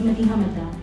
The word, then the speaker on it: Madiha Madda: Madiha Madda, pronounced by my parents as Madiha Madda.